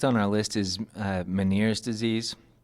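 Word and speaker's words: Ménière: our list is uh maners disease I looked up uh a few different pronunciations with this um it could be miners or manier um or or man which is the most French sounding so I'm going to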